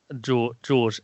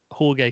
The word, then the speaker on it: Jorge: um there was well george aka jorge campos if you want to pronounce it properly who is i think